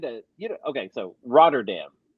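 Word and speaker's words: Rotterdam: So Roderdam. Okay. And and apparently it's pronounced it's Rotordam or Rotordom. Dom. Rotordom. And that's how they pronounce it there.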